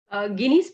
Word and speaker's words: Ginny: I was calling it Ginny. It's actually Guinea.